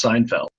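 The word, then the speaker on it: SNFLD: spelling of the s n-f-l D arrival is pronounced Seinfeld the stars on the board are locations of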